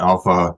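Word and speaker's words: ALPHV: scattered spider does use Alp or Alpha depending on who you talk to and how it's pronounced also known as black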